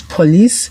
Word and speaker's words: police: Right, the I we usually have the short E sound, just like justice, office, etc., except these words police and caprice.